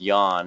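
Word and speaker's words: yuan: devaluing the Yan and I believe it's pronounced Yan at least that's what uh the Chinese people I know tell me but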